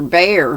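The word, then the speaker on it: Bhaer: said that must have been professor bear he's always doing things of that sort and it's spelled b-h-a-e-r mrs k told me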